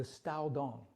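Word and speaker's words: Caodong: You said put a T in there. I did, Stao.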